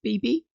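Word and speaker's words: B×B: Next, we have BB Hawk. Yes, his name is pronounced BB.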